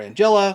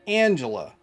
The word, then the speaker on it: Angella: There's two ways to pronounce it. You can call her Angella, or you can call her Angela. Either way, it works fine. I'm gonna go with Angela.